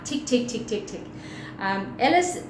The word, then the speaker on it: Ellis: tick tick tick tick Ellis pronounced L is has grown up to